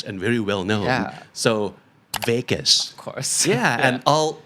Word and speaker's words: vagus: that's very important oh it's actually called a Vegas nerve but it's spelled differently okay yeah I think